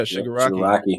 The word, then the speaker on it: Shigaraki: I mean, Shigaraki, is that how you pronounce it? Yeah, Shigaraki.